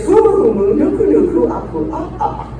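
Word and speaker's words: humuhumunukunukuāpuaʻa: It's humu, nuku nuku, apu, right? Now, this is brilliant because it's fun to pronounce.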